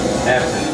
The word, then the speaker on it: absinthe: Absinthe, yeah.